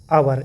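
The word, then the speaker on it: hour: उच्चारण नहीं कर दें, जैसे कि आवर, एच लगा है लेकिन इसको हावर नहीं पढ़ेंगे, इसको क्या पढ़ेंगे, आवर।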